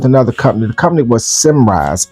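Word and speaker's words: Symrise: The company was Simrise. S Y M R I S E. Simrise.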